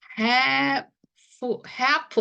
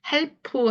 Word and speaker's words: half: have 한번 보실게요 보시면음 have네 여기서도 역시 그 리 소리가 없다는 거예요 그래서 이거 그냥 해프 하고 읽어 주셔야 돼요 이거를 help 하시면 help 하시면요이 단어가 됐어요이 이렇게 help 도와주라는이 단어가 된다이 말이에요 발음이 자 그래서 help 하시면 안 되고 그냥 리 발음이 없어요 그니까 L 발음이 없다는